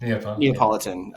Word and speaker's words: Neapolitan: Neapolitan? Neapolitan.